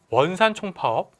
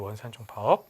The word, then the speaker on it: 원산총파업: 이게 1929년에 있었던 일제강점기 최대 규모의 바로 파업, 원산총파업. 미안합니다. 제가 발음이 원산총파업이에요. 원산총파업.